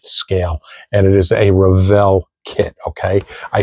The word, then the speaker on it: Revell: I said Revell this time, not Revel. Okay, I know some of you get upset at me for saying Revel. I don't know why, but that's just the way I've always pronounced it, but I'm trying to